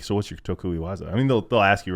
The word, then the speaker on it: tokui waza: That's your tokui waza. Am I saying it right? Yeah, tokui waza.